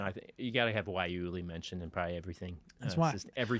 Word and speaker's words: guayule: Erik: There was one customer who kept calling it guacamole.